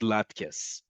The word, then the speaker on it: latkes: will in diaspora communities, but they are pronounced latkes.